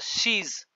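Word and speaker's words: scheiße: Okay, for example, this is a word, she is. Okay, yachat jari beta asla tari pronunciation tyacha she is asa hota. Okay, s c h e i double s e asa tyacha pronunciation hota.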